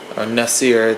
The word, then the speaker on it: Nasir: i have a younger brother named nasir nessier to pronounce it better and um he is